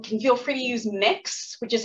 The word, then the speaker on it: Mx: more formal, you can feel free to use mix, which is how the MX dot is pronounced.